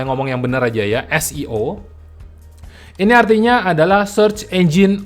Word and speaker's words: SEO: ya itu muncul istilah Seo itu Darimana asalnya dari siapa enggak ngerti juga padahal ini adalah sebuah singkatan dari kata bahasa Inggris siomia1 disini esio ini cara bacanya bukan Seo orang-orang Kalau Anda ngomong seoseo